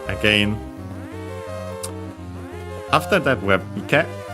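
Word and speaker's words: 池: After that we have ike. A strictly Japanese word, which means pond, accent on the last syllable.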